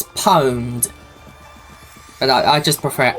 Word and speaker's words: pwned: multipli which one to choose no no it's pronounced it's it's pwned but I just prefer owned cuz pwned just makes you sound ever so